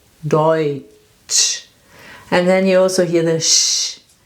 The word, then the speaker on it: Deutsch: So this is a combination of two letters and we pronounce it Oi, Deutsch.